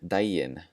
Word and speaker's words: daginn: The first one, daginn, as in góðan daginn, good day. Daginn, that G is just going to be pronounced like a J.